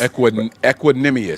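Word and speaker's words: Equanimeous: So, then you got Tariq Owens and you got Equinmius or is it is it Aquinamus? Equinimmus. See? Equinimmus. Is it the pronunciation right here?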